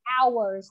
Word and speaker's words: hours: The letter H ở đây con nhìn nè. Cái chữ H này nó là âm câm, cho nên là con sẽ không có phát âm cái chữ H đó lên. Cho nên mình sẽ đọc là hours thôi.